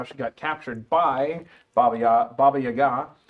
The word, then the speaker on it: Baba Yaga: got captured by Baba Baba Yaga, which I just found out the pronunciation was more that way because it's Russian.